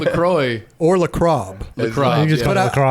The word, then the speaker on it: LaCroix: I've already got my coffee, my LaCroix. What did you say? LaCroix? La Croix. La Croix. Yeah. It's French. Okay. I think. Chris always saying LaCroix.